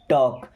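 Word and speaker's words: talk: टॉक, देखिए इस word में के साइलेंट है। Okay, टॉक। अब आपको ऐसे वर्ड कमेंट करना है जैसे टॉक है, वॉक है, चौक है, जिनमें एल साइलेंट होता है।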